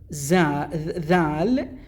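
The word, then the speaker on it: ذ: And then we have dhal, which is tha. Exactly like the definitive article of th and e, tha.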